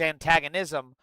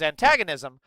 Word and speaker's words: antagonism: That is where his animus, his antagonism, wow, you put the wrong emphasis on the wrong syllable. That's where his antagonism of Israel comes from, is because he's a fucking Nazi.